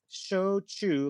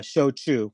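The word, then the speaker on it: shōchū: with the pronunciation um it's show Che like show me the money and chew your food uh show Che okay uh and it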